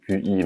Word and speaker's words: Qi: Ça s'écrit QI, mais ça se prononce Qi.